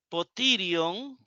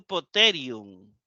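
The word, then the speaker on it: ποτήριον: me gustaría pronunciarlo poterion, porque la ita, la eta, esta ita, ¿verdad? Ita en el moderno, Erasmo de Rotterdam, eta. Pero me suena más y me gusta más. Aquí se pronuncia como la E española y aquí como la I española.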